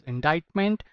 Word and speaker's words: indictment: truth to this indictment the word pronunciation is indictment and why i'm circling